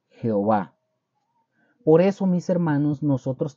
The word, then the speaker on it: Jehová: que tener ahí escrito la palabra que se lee de esta forma como yahuah yahua ahora la pronunciación por la transliteración es Jehová Por eso mis hermanos